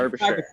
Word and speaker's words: Derbyshire: Quick note on pronunciation. Is it Derbyshire? Ooh, Derbyshire? Derbyshire? Derbyshire. Derbyshire. Thank you. Derbyshire.